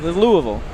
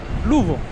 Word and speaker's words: Louisville: Yeah, it's not that that's two syllables. It there's somewhere between two and three syllables is a proper way to say it. Louisville. Louisville.